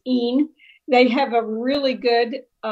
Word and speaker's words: in: Again, we have a pronunciation warning because kids see and we see IN and we want to say Ethnine Terra Pax, but of course in Latin it's EEN.